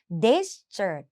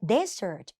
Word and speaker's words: desert: หวาน อีก ที นึง Desert มี S ตัว เดียว จำ ง่าย ๆ ลูก ทะเล ทราย แห้ง แล้ง มี S ตัว เดียว อ่าน ว่า Desert นะ เน้น ที่ ตัว หน้า Desert นะ dessert dessert แต่